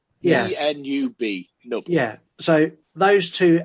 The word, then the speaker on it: Nub: I think it's pronounced Nub. Yes. N-U-B, Nub.